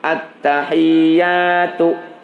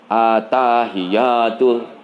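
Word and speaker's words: التحيات: Jadi huruf ta dan iya-nya jangan begini bacanya at-tahiyatul. So kalau baca begitu, ada yang baca berikutan at-tahiyatul. Itu hilang tasdidnya.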